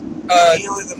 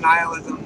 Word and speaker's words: nihilism: difference does it make is pronounced both ways I've heard it pronounced both ways many times nalism nihilism not noism you say noism naism or nism any of those are fine okay so like where